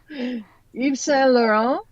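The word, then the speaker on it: Yves Saint Laurent: one right if I can afford it no e s laon both the Y and T letters are silent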